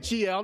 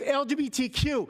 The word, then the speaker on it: LGBTQ: You're calling it GL, not LGBTQ. It's LGBTQ.